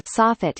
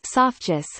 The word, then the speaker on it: soffit: I know a man who pronounces the part of a roof known as a soffit as sophgus.